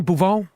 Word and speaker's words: Beauvais: Beauvais. Beauvais. Beauvais. It's French. French.